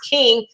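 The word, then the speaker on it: Kueng: the name of the last name is king it's spelled k-u-e-e-n-g but it's uh pronounced king he appears that he's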